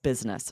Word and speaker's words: business: Business, but we rarely say that. We really usually pronounce this two syllables. Business.